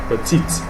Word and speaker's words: petite: for examples petite masculine petites feminine 30 and T is not pronounced because there's no e there petite because there's an e it's pronounced okay and it's feminine